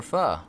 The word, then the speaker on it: pho: it it's just a spelled pho but it's pronounced fuh hey Ned welcome back